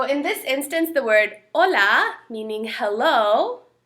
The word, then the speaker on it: hola: this instance the word Hola meaning hello has an H but we don't pronounce the h we say olola not Hala see hola so H's